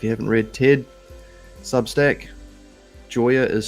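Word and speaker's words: Gioia: If you haven't read Ted Substack, Joyer is spelled G I O I A.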